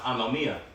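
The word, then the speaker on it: ἀνομία: And when you read that verse, because iniquity shall abound when you go into that word iniquity in the Greek, that word is pronounced anomia.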